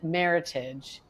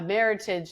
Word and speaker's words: Meritage: And I picked out a Meritage that I knew the producer. and it was a small producer. And I said, when you order it, make sure you say Meritage, Not which Meritage. rhymes with heritage, not Meritage, which it's